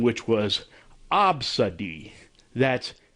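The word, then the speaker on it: Abcde: to pronounce the customer's child's name, which was Absadi. That's spelled A-B-C-D-E.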